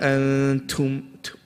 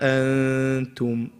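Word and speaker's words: أَنتُمْ: The only advice I can give you is on the letter ta. Remember we said that the letter ta, that sound, you only make it when it has a sakin. So if it doesn't have a sakin, so for example you said wala antum, no, keep it clear. Wala antum, tum, soft. Only when it has a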